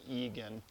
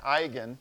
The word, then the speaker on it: eigen: values and eigen vectors eigen is a German word and so you pronounce it with kind of a German accent instead of Egon you don't you don't